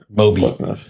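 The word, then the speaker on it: Mobi: M O B I Moby. Those pronounced the same way as Moby, the music producer.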